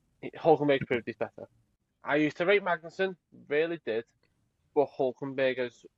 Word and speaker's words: Magnussen: Look, I like Magnussen.